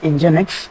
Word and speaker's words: Nginx: will be discussing about engine X so engine X is a web server okay uh it it is pronounced as engine X and it's a it's